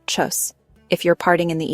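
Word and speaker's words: Tschüss: In casual situations among friends and family, you will almost always hear tus translation by pronunciation chus.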